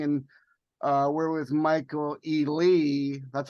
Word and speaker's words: Ely: noise every everything and uh we're with Michael E Lee that's how you pronounce the people from white red wedding the